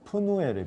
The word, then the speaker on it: 브니엘: 브니엘 그러는데 히브리어로는 원래 푸누엘이 푸누엘. 그래서 이거를 굳이 우리말로 지금 뭐 발음 표기를 옮긴다면 브니엘이 아니라 브누엘 이렇게 바꿔야 되는데 왜 브니엘로 바꿨는지는 잘 모르겠어요.